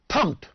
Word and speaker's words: thumbed: it is thumped okay t-h-u-m-b-u-d pumped right silent here thumbed okay so it's torn